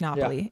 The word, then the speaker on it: Napoli: Spelled Naples, pronounced Napoli, Italy.